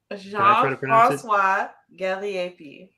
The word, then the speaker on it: Jean-François Gariépy: I know last week I hit everybody up about well, do you mind Ruby pronouncing his name correctly so I can share this for everybody? Jean-françois Gariépy.